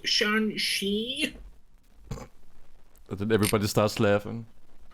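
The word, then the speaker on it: Shang-Chi: And then Southpaw's just like, it's pronounced Shan-Shi.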